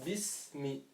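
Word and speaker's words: بسم: Vu qu'il y a pas une de ces trois je vais prononcer la lettre telle qu'elle. Je vais dire bismi.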